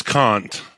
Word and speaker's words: Kant: of going over today well it's Kant okay like I I can't do it captain Oh that's not